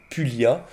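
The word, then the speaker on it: Pulliat: CPAGE qu'on appelle la classification de pulia ça s'écrit pu u de Z I a T pulia pulia c'est le nom de l'ampélographe qui a classé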